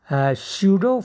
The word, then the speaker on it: pseudo: Now I am going to discuss pseudo first order reaction. Pseudo, PSEUDO. P is silent here. PSEUDO, pseudo. PSEUDO, pseudo first order reaction.